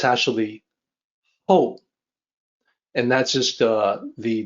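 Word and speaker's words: 厚: the native English speaker it's going to look like it should be pronounced like how like how are you how no it's actually oh and that's just uh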